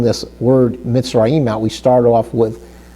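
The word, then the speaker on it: מצרים: So you can see when we look at the word Mitzrayim, we see that the Shiva is underneath the Zadi Hebrew letter, which gives us the E sound. So if we start spelling this word Mitzrayim out, we start off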